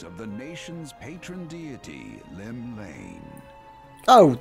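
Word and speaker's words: Llymlaen: the nation's patron deity, Lim Lane. Oh, it's not even pronounced Welsh. That's like literally pronounced normally.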